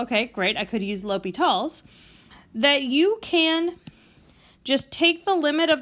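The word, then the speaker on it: L'Hôpital: rule which is called l'hopital it's a french word that's why it looks like hospitals but it's pronounced l'hopital there's two indeterminate forms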